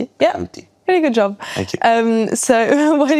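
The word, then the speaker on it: Berluti: Do you know how to pronounce beruti by the way in French? Buti.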